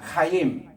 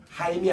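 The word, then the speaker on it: חיים: 길이냐 면은 카 바로이 생명나무 명 우리 따라합시다 카임 카임 카임 카임 우리 한국말로는 하이라고 어 번역을 이제 하는데 실제로는 키역 발람이 더 있습니다 따라합시다 카임 카 하임이 아니고 카임 약간 키 발음이 썩 있어요 왜냐면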